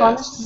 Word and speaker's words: honest: Honest woman. Good. An honest. This H? An honest, without H, yeah. Yeah, the H is silent.